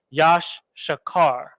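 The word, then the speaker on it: יששכר: got it's a car Yasha Carr so-called Mexicans Yash shakar okay Yosh shakar sure car and then Rock yeah shakar yeah so there we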